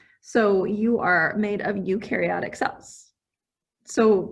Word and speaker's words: eukaryotic: you are made of eukaryotic cells so one way to remember this one is you which is how this is pronounced you are made of